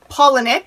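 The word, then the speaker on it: Palahniuk: there's a helpful guide like chuck pollinik is actually how you say it and i know that because he has a pronunciation key on his website just like maggie steve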